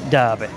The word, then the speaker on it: Derby: Do we pronounce this Derby or do we pronounce it Derby? It's Derby.